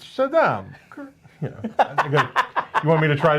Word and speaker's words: Shaddam: You didn't say it right. It's Shaddam.